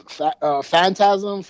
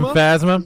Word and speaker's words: Phasma: Phantasm. I'm sorry. Oh, Captain Phasma.